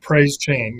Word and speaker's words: Praise Chain: Is it Praise Chain? Is that how you say it? Praise Chain, yes, sir. Chain.